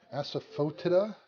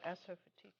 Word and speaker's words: asafoetida: Asafoetida.